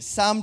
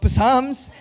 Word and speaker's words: psalm: screen but some 23 psalm 23 some starts with a p not with an s just just saying right and it's not and it's not pronounced psalms just in case you're